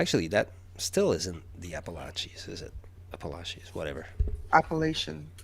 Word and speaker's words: Appalachian: Appalachian?